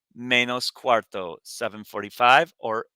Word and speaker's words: cuarto: Be careful, that's close to the word cuatro, which means 4, but it's spelled differently. Cuarto, not TRO.